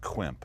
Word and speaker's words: quimp: quimp a penis fart i have never heard of the term klimp could you explain that it's uh it's pronounced quimp it's when the penis